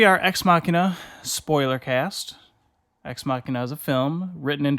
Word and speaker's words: Ex Machina: We are talking about Ex Machina. Is that how you pronounce it? Ex Machina, yes. We just saw it. Like Deus Ex Machina.